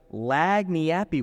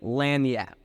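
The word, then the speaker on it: lagniappe: hand them over and there was the time I asked what lag nappi was I quickly learned the correct pronunciation a meaning of lanap I'll never make that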